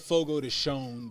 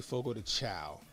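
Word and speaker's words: Fogo de Chão: Fogo to Chow though they call it Fogo to shown but I'm like it's it's spelled Chow I'm going to say Fogo to Chow grocery Outlets are local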